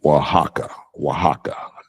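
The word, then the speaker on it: Oaxaca: made this word sound like that but it's pronounced waka waka um someone else says yep they agreed Waka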